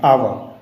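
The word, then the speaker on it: hour: इसको पढ़ते हैं तो इस प्रकार पढ़ते हैं आव क्योंकि इसमें एच साइलेंट होता है जब एच साइलेंट होता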